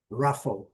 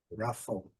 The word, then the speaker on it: ruffle: Então, aquele som terminado com F, primeira sílaba é a sílaba forte, ruffle. Separação de sílaba aqui interessante, que os dois Fs estão na mesma sílaba, apesar de que a transcrição não contém os dois Fs, certo? Mas a pronúncia melhor aqui é ruffle.